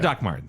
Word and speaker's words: Dr. Martens: It's spelled doctor, No one says doctor. They're yeah. Doc Martens. but it's Doc Martens.